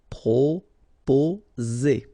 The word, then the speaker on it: proposer: Proposer. Okay, so proposer. Remember, 2 vowels here and only 1 S, so you will get the sound Z. Okay, proposer.